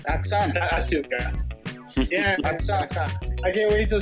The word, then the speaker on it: Asuka: WWE's doing one thing right because Japanese pronunciation, you never pronounce the U. Okay, but it's Aska. Aksan. Asuka.